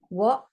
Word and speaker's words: what: What and there. Those two are also tricky words. You can't hear the H, and the A says a O sound.